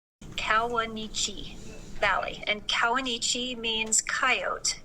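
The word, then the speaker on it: Kawuneeche: national park and asked what do you say kawanichi valley and kawanichi means coyote in arapaho one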